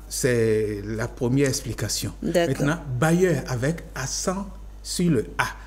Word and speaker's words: bailleur: Ça sonne bailleur mais ça s'écrit de manière différente. Le premier bailleur B A I 2 L E U R bailleur tout simplement.